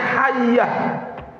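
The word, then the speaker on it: حية: Dua titik di bawah, bukan satu titik. Kalau satu titik habbah, habbatun artinya biji hitam yaitu apa? Hab sauda, jintan hitam tapi dua titik. Jadi bacanya hayyah.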